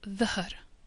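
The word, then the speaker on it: ظهر: It's a voiced version of z, and it's pronounced a little bit like a mixture of D, H and Z at the same time. If we look at the first word, it's pronounced dhahr.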